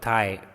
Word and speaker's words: thigh: is also called your thigh t h i gh here g is silent so this bone is